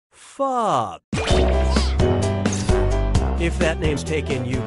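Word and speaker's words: pho: so who got it this delicious soup is pronounced fob if that name's taken you could call your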